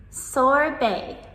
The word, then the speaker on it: Sorbet: Sorbet.